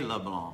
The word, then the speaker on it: LeBlanc: LeBlanc. Am I saying it right? LeBlanc. That's it.